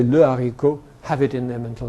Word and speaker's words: le haricot: But don't people say l'haricot sometimes? No, they never do. They say le haricot. Because there is an H there, but it's not pronounced. But it makes l into le.